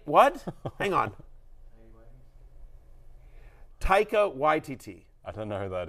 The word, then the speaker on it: Taika Waititi: The fact of the matter is you actually have an Australian, Taiki Waikita. How do I pronounce it, guys? Nothing. Haiki Waikita. What? Hang on. Taika Waititi.